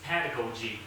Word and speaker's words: pedagogy: What we do among our children in this exact classroom is pedagogy. Pakisabi po, pedagogy. Pedagogy. Pedagogy. Pedagogy. Pedagogy. Pedagogy. Yan, paglabas po natin, pedagogy. It's supposed to be in the first syllable, pedagogy.